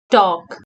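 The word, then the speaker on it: talk: के स्पीक उरा गर्नु टॉक टी ए एल के टॉक इस्मा पनी L silent T ए एल के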